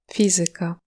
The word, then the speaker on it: fizyka: Il peut être sur la troisième syllabe avant la fin dans des mots d'origine grecque ou latine du genre Muzyka, polityka, fizyka.